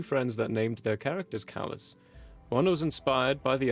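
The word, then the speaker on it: Kallis: correct i'll call him callus he just decided to spell it k-a-l-l-i-s because that's how it sounds yeah and it's probably like just like one of those words that's like callous you know what i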